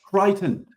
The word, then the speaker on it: Creighton: Creighton. All right, that's the way to join pronounce it.